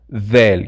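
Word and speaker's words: ذال: del which is vel vel you see i have to put my tongue out to pronounce it correct vel it is the same sound as in english when you say there or that's in the word dora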